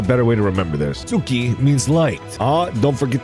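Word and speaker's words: すき: Suki means liked. Ah, don't forget the suki and subscribe. The ooh sound in suki is often muted, so it sounds more like ski.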